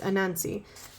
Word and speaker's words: Anansi: It is Anansi. I added an extra. I always want to add an extra syllable in that. It's Anansi.